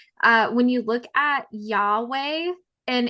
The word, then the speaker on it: Yahweh: when you look at Yahweh in its original form, it actually didn't have any vowels. And if you were to pronounce it, it's actually like a breath, like breathing in and out.